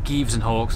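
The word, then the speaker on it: Gieves & Hawkes: We're now leaving Jeeves and Hawks, or Jeeves and Hawks, as I've been told it's correctly pronounced.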